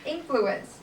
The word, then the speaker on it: influence: L your part there's a word influence has the first syllable stress always regardless of whether it is used as a noun or verb okay could you repeat